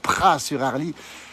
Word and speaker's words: Praz-sur-Arly: village où nous sommes Pras sur Harle ça c'estécrit avec un Z on prononce pas le Z s'appelle les pralins et